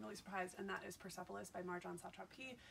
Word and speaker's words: Persepolis: Persepolis.